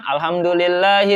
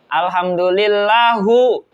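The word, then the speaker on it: الحمد لله: Contohnya kayak mendomahkan lapad ha di alhamdulillah, dia bacanya bukan alhamdulillahi rabbil alamin, dia bacanya alhamdulillahu rabbil alamin.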